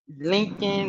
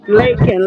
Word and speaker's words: Lakin: Because I heard some people say Lakin and Lincoln, and Lakin. is it It's Lakin? Lakin. Lakin, like the lake.